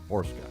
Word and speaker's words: Borcsa: It's It's spelled differently, but it's pronounced Borska.